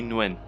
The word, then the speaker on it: Nguyen: this guy's name and I believe it when pronounced when with an N at the beginning Switzerland went Lee Nguyen it's a viet he's